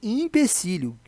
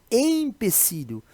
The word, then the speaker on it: empecilho: é que fica né temos que ficar atento a pronúncia EA grafia gente a palavra empecilho se escreve de acordo com a letra D aqui ó impecílio eu sei que na pronúncia até mesmo na escrita muitas pessoas podem confundir e escrever principalmente impecilho né que da pronúncia ou e acaba né se fechando aí parecendo a pronúncia de uma vogal ir mas é empecilho que é obstáculo dificuldade